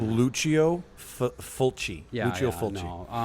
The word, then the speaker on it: Lucio Fulci: it's Lucio Fulci.